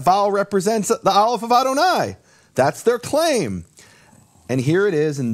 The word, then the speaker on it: Adonai: Where that the Aleph in Adonai is silent, and so the Yud should have no vowel, and it has the vowels Yehovah.